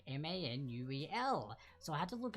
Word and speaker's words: Manuel: So it is actually Manuel, not Manuel. So Lin-Manuel Miranda, for those who may have seen the name and were like, oh no, maybe it's a syllable too long.